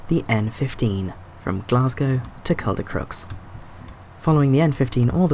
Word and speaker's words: Caldercruix: N15, Glasgow to Caldercruix. Apparently that's how you pronounce that. That's not how you spell that. There you go. Caldercruix, that's how you say that.